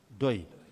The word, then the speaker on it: PDOIS: But if you want to say that, to pronounce that, you have to make the P silent, and the last S, the first P silent, the first letter silent, the last letter silent, and it becomes Doi.